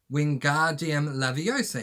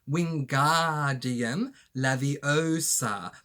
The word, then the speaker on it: Wingardium Leviosa: Wingardium Leviosa, he shouted, waving his long arms like a windmill. You're saying it wrong, Harry heard Hermione snap. It's Wingardium Leviosa. Make the gar nice and long.